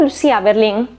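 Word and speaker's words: Lucia Berlin: por editado por alfaguara digo Lucía Berlín porque te hacen saber que se pronuncia así al final del todo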